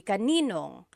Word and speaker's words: kaninong: And then just a pronunciation tip, kanino ang can be put together in a contraction. It would be kaninong.